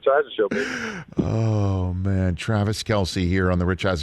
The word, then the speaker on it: Kelce: is it true your your name isn't really pronounced kelsey it's kels and somebody calls it kelsey is that true did